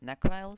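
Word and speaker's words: Nechryael: It's necryles. That's how you pronounce them. Rune boots are dropped by necryals, so that there would still be a reason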